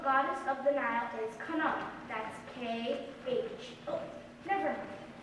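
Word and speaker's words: Khnum: I am Knum. That is K-H-N-U-M. The H is silent.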